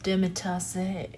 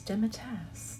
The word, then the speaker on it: demitasse: at least I mean it looks like it should be pronounced dimitas or something fun like that but it's dimitas in these spreads I'm